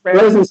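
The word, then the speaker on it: Rozenstruik: Minty's going to get knocked out in the first round, and sure enough, is it Rosenstruck? Is that how you say it? Yes, Rosenstruck.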